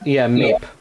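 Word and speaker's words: Maip: It's the Meep. Meep. Mipe, right? Mipe, I believe, is the pronunciation.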